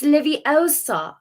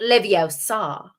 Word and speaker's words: Leviosa: someone's eye out besides you're saying it wrong it's leviosa not leviosa that one was a